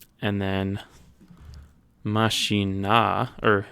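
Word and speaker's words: mașina: It sounds like the emphasis almost switches to the penultimate, the first syllable to make the car.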